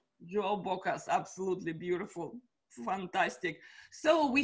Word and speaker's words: João Bocas: your name how do i say it right joe bocca's absolutely beautiful fantastic so we here in december